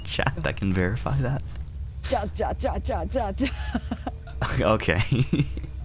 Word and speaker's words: ja: Ja. Okay. Ja. Oh yeah, that's how they laugh. That's how the people laugh, right? Yeah. Ja. The J noise sounds like an H in Spanish, right?